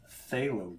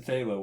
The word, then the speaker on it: phthalo: bit more of the phthalo green. There's a P in phthalo, which makes no sense to me. It's like psychic, right? There's a P in there for no reason.